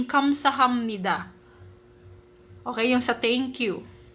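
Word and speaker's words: 감사합니다: Imbes na kamsahapnida magiging kamsahamnida.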